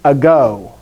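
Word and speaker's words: ἐγώ: is where okay so in latin this word is egg in greek it's ago so anyway so there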